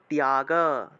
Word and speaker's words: ত্যাগ: জফলা তাহলে ধ্যায় ধ্যান কর্মফল ত্যাগ ত এর সাথে জফলা থাকলে তিয় উচ্চারণ না তয় উচ্চারণ করবেন তিয় ত্যাগ ত্যাগ উচ্চারণ করবেন যেহেতু এখানে জফলা আছে